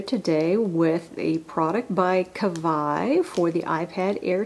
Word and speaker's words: Kavaj: I know it's a j but apparently it's pronounced cavi so feels nice and padded underneath the wrapping